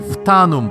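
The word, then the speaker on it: Phtanum: talented World Builder herself the Mind behind the fanum project that's spelled p h t a n u m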